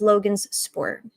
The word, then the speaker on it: Logansport: It's Logan's Sport.